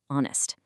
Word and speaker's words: honest: But look at honest. The letter H is silent.